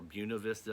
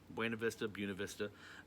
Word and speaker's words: Buena Vista: We ended up hitting Buena Vista, or Buena Vista, as apparently that's how the locals say it, I guess. Buena Vista.